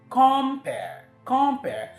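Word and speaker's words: compère: I want to function as that person, and so because it's a noun, the stress should fall on the first syllable.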